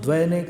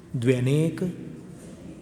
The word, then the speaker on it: द्व्यनेक: द्व्य, अब सब लोग द्वैनेक द्वैनेक बोलते हैं। श्रुतम मतिपूर्वम द्व्यनेक, द्व्य द व य, द्व्यनेक द्वादश भेदम।